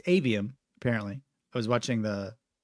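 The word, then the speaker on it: Aveum: Immortals of AVM and am I the only one who's been pronouncing this wrong and calling it Immortals of avium it's avium apparently I was watching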